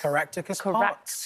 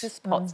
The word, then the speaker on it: Caractacus Potts: Caractacus Potts? Caractacus Potts. Caractacus Potts.